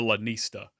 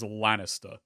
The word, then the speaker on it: Lanista: up to be a Lanista. Now, word of warning, I have an accent. You may have noticed. I'm going to be talking fast and I will wind up pronouncing this as Lannister. So when I do that,